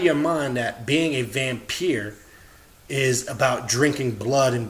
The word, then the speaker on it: vampyre: energy the gods and I remember being a vampeer or which somebody falsely pronounced vampire is somebody that's able to absorb the energy